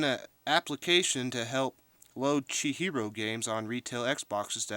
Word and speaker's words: Chihiro: say it wrong but japanese it's pronounced chi like cheeto so guy on assembler j fox rocks is making an application to help load she hero games on retail xboxes